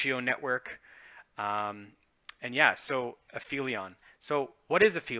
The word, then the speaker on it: Aphelion: cover off is a fee Leon and it's pronounced a fee Leon so what is an aphelion it's actually a